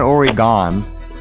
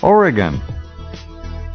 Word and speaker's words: Oregon: little fun with you it's not already gone it's Oregon Oregon okay Oregon Oh gotcha it oops alright I couldn't resist okay back in a flash with dr.